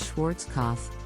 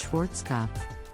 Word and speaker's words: Schwarzkopf: German Hair Care brand many people mispronounce this brandish Schwarzkopf but the correct pronunciation is Schwarzkopf the brand is now